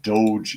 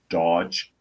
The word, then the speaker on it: DOGE: And it's getting enforced, which is what Doge is for. D-O-G-E, I guess, is pronounced Doge, not Dodge.